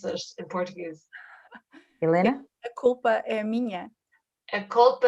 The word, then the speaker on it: A culpa é minha: in Portuguese so that I know how to pronounce it in Portuguese? Helena? A culpa é minha.